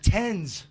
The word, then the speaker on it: TENS: oh really okay nice how do you pronounce it tens tens yeah t-e-n-s tens unit that's what the they